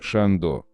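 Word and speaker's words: Chandon: Moet Шандо. Вопреки распространенному в России мнению, в имени всемирно известной марки шампанских вин при произнесении убирается не «т» в слове «moet», а вторая «н» в слове «ченден».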